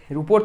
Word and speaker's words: rho: ওকে, বা রিলেটিভ রেজিস্ট্যান্সও বলে, আপেক্ষিক রোধ। ঠিক আছে, আপেক্ষিক রোধও বলে। এটা হচ্ছে রো, উচ্চারণটা কি, আর এইচ ও স্পেলিং, রো।